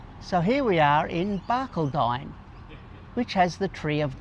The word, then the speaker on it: Barcaldine: If you're travelling through Blackall and you need somewhere to stay, the Barcaldine River camping area is a donation camp and is $10 a night.